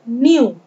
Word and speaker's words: knew: यहाँ पर K को साइलेंट माना जाएगा और इसे हम N से पढ़ेंगे, न्यू।